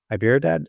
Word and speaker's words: Hyderabad: For example, we opened up an office in Hyderabad. Is that how you pronounce it?